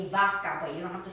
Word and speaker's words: vaca: So this V is pronounced just like you would a B. If you do want to do it like English, that's okay too, sin problemas. You have vaca, cow, vacío, which means empty, vacío.